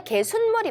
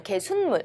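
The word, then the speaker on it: 개숫물: 우리가 니은이 첨가가 되죠. 발음 발음하는 중에 그래서 사이시오 표기를 하여야 합니다. 그래서 우리가 개순물이 맞죠. 개순물. 우리가 발음할 때 개순물에서 니은이 첨가되는 맥락이니까 우리가 설거지할 때 이제 쓰는 물을 우리가 개순물이라고 합니다.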